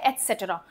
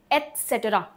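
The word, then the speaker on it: et cetera: एसेटरा क्या बोलते हैं इसको? एसेटरा। ए तत त बहुत ही धीरे से बोला जाता है। एसेटरा एटसेट्रा का क्या मतलब होता है?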